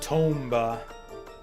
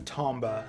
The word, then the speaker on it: Tomba: I always said Tomba. Like Tomba, as in tome. Rather than Tomba, as in Tom.